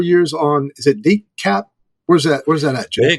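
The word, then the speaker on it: DeKalb: She's got about 4 years on, is it DCAP? Where's that at, Jeff? They call it DCAP, but there's an L in there, and the L is silent.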